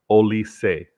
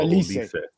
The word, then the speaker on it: Olise: Virtual reminds me that it's pronounced Olise. So Olise.